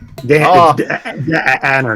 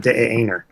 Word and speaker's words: Danner: Danner, not Daner.